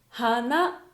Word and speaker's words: 花: 花ですね。